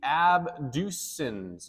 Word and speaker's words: abducens: going to be the abducens nerve abducens nerve kind of sounds like the word ABD duct it's actually going to